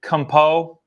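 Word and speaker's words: Camus: What was there's a quote that I heard today from, what's the guy's name who, it's spelled like campus, but it's like Compo or something like that.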